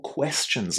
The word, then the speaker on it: question: How are the letters T I O N pronounced? Listen again. Question. Question. What can you hear at the end? It's chin, right?